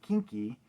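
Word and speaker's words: quinqui: So, short for quincalero, delinquent, and pronounced kinky, it was a brutal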